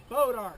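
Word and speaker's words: Bois d'Arc: correctly Northwest of Springfield there's a little town called bodark everybody say bodark bod that's how us hillbilly say it but that's not how the French say it let's say it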